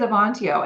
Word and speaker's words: Avantio: So what is Avantio?